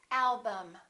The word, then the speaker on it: album: This is and this is also because they're both reduced syllables. Repeat after me. Madam, problem, symptom, album.